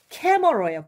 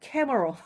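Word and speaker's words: camera: 요런 발음 기호로 나올 거예요. 캐머러예요. 캐머러.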